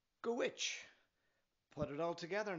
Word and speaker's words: Dhuit: - "wash-a" And the last word is Dhuit, pronounced "gwitch" Go put it all together now.